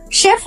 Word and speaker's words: chef: CH এর sound এখানে কারণ শেফ ওয়ার্ডটা ফ্রেঞ্চ থেকে এসেছে ইংরেজি ভাষায়। শেফ।